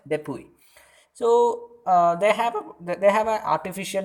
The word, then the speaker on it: DePuy: That is it is spelled like DUPUY, and let me call it DEPUY.